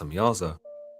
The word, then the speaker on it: Samjaza: The leader of these angels, known as Samjaza, sometimes Samyaza. pronounced Samyaza, tells the Watchers that they